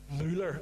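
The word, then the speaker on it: Müller: And by the way, that would be pronounced Muller, as in Mooler.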